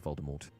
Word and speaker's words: Voldemort: that it was actually meant to be pronounced with a French accent in which the T should be silent now if only we